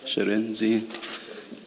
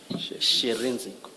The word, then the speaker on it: Shirindzi: Sherenzi, Chairperson. Sherenzi. She, yes. She, Renzi. She, Re, and then Nzi. She, Renzi. Yes, SHIRINDZI. Yes.